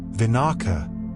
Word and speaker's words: vinaka: Vinaka.